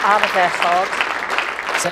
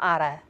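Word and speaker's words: ardderchog: As we say in Wales, arfechog. What was that? Excellent. Excellent. Arfechog. Arfechog? Yeah. Not ara. Arfechog.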